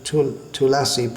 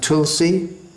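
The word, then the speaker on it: तुलसी: on to Tulasi prayers, in Sanskrit it's pronounced Tulasi, in Bengali, well in Hindi it's pronounced Tulsi, or in Bengali Tulshi, but that's alright when we're singing the Bengali song, but in the Sanskrit prayer that we chant, first of all, it should be Tulasi. Vrindayai Tulasi Devyai.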